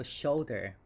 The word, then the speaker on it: shoulder: like that so it's we have a stress in the first syllable so it's sha sha and then we have o l der so shoulder shoulder shoulder all right